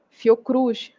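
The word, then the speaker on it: Fiocruz: Caixa Baixa tá então Senac você lê como uma palavra fio Cruz você lê como uma palavra Embrapa também você lê como uma palavra então você não pronuncia letra a letra como acontece com IBGE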